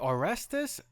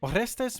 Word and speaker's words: Orestes: boss Nico played by aestus mat I hope I said that right also I found out he's a Cuban American so the name is probably pronounced in Spanish orestes Mata there we go